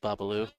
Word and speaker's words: Bobaloo: There's no S. It's just Bobaloo.